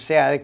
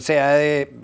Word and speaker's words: Seade: El señor Seade tiene, o Cid se pronunciaría también, pero el señor Seade